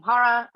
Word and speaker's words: Chara: here uh again um I'm Hara I know my name is hard to pronounce sometimes so I think the easiest way to just drop drop the c in front of it and just read whatever follows um this is joined